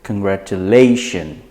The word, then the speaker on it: congratulation: before the shin so for this word you pronounce it congratulation because lay is right before the shin similarly